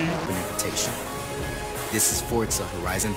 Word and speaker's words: Forza: There's no T in the name. Forza. It's pronounced Forza.